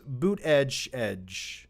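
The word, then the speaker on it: Buttigieg: giggs he's my favorite also it's pronounced boot edge i don't i don't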